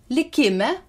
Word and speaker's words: likìme: The Lithuanian accent is free and mobile. Any syllable can be stressed. I'll read it loud. Listen. Likime, let us stay. Likime, or faith. Likime, in faith. As you see, short stressed syllables are marked with grave accent.